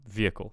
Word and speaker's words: vehicle: familiar with the word so we want um vehicle So Silent H and stress on the first syllable oh my God all